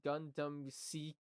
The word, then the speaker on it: Gundam: Gundam jooks you got you gotta hold out the U if you ain't holding out the U you ain't saying it right and it's going to